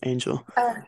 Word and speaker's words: Angel: Yes, Angel.